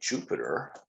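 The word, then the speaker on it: Jupyter: go with that and i'll say jupiter it's spelt with a py and that's a tip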